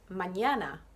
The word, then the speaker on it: mañana: word so for example in the Spanish word mañana which means tomorrow the second syllable of the word is emphasized it's pronounced a little bit more strongly than the other syllables and word stress is